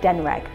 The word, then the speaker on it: Denreg: So instead of trying to say 'DNRG', we say Denreg and that's the name of the tomb owner, he is called Denreg.